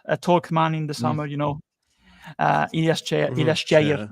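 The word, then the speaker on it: Ilyas Chair: And of course, our most talk man in the summer, Ilyas Cheyer, actually, Moroccan pronunciation.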